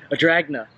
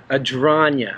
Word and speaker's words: Adragna: a drain you know my last name again how you say it a dragna what no it's ad rania ad rania yes the proper way to say it is yet alright guys well we're here with smelt like a dragna like a dragon cuz he is kind